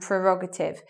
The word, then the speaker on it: prerogative: But anyway, the stress is meant to be on the second syllable in those words. So it should be like prescription and prerogative.